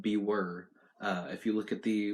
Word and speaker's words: Bewere: Not Beware, but Bewere.